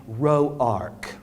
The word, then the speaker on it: Rourke: Them what pronounce the name Roark. Yes, they's the ones that's got money and education. These wasn't Roarks, they's just Rourkes.